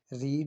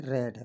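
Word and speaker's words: read: बोलने में प्रोनाउंसिएशन में ध्यान आएगा कि ये रीड नहीं है, रेड है, बोली जाएगी द इंग्लिश।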